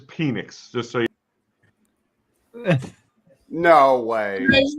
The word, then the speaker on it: Penix: Falcons just mentioned that it is pronun pronounced penix it is penix just so no way